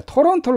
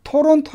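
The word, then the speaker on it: Toronto: 토저 털어 온더 자 토론토를 갖다가 물론 토론 터 라고 발음 해도 이건 알아듣습니다 대부분 다 실제 캐나다 인들은 미국인들은 토론토 이렇게 말하지 않죠 없이 팔에 뭐 줄까요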